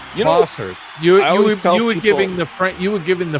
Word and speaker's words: Bossert: and by the way my last name is bosard bosard bosard you you were giving the F you were giving the French pronounce uh pronunciation the Canadian to me I